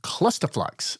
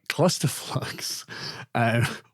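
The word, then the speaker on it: Clusterflux: of 104 s and the clusterflex say it right cluster flux which I remember being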